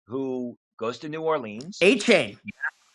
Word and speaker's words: Etienne: A chain. He's Now pronouncing it A chain now.